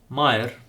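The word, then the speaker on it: մայր: So, this word is pronounced Mayr, just like the word Hayr, but with the first letter being different.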